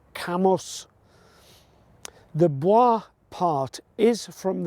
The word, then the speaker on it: Cambois: see just behind me visitors to the area often pronounce The Village's name as kamwa using the French style pronunciation however this is wrong it is pronounced camos the Boi part is